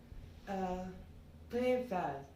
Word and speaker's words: Prévert: Prévert. If you speak it in English, then you're pronouncing the T. Then you will be saying Jack. Okay, so Jacques Prévert or Jacques Prévert.